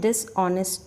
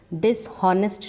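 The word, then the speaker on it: dishonest: आज की जो स्टोरी है इसका नाम है डिसऑनेस्ट डॉक्टर। ठीक है, इसको पढ़ेंगे डिसऑनेस्ट, डिसहॉनेस्ट नहीं पढ़ेंगे, एच इसमें साइलेंट है।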